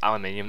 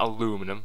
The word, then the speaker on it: aluminium: And it is pronounced aluminium, not aluminum.